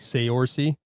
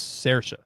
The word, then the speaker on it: Saoirse: Looking at it, it's like Saoirse, but it's Saoirse.